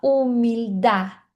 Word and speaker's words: humildad: Quando você vê palavras assim com esse D, é como se tivesse um acento na letra A. e não tivesse a letra D, então a gente fala humildar.